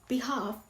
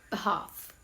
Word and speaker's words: behalf: Instead of behalf, say behalf.